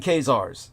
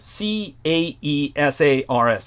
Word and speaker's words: Caesars: the book again that the coming Kars the coming King K yeah but it's spelled c a e s a RS like Caesars but Caesar is a mispronunciation the coming Caesars so